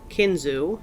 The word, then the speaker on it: Kinzua: pronounced two different ways kinzu as I have just said it and Kinzua which I read was the way that some Native Americans say the word it is spelled k-i-n-z-u-a